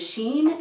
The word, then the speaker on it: Shein: So I think the way you pronounce the website name is Shein, S-H-E-I-N.